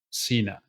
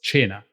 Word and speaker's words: Cena: Cena's name like surname Cena It's actually an Italian word oh yeah to tell yeah and it's not pronounced Cena it's pronounced China which means dinner oh